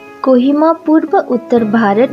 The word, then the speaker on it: Kohima: कोहिमा अंग्रेजी द्वारा दिए गए एक अंग्रेजी नाम है जो मूल्य नाम क्यूहिमा या क्यूहीरा का उच्चारण नहीं कर सकते थे, जो क्यूही फूलों से